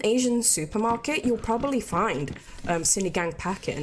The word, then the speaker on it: Sinigang: How do you pronounce Sinigang? Sinigang.